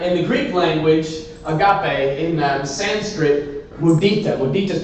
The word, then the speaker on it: agape: The last word, and the reason I'm telling you all this in the first place, is agape. Say it with me. Agape. Well, let's say it like a fun way, like agape.